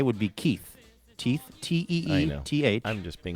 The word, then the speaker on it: Keith: It's our friend Keith Stone in Libertyville, Illinois. Keith says, here's how you pronounce Keith's first name. It's like teeth, but with a K.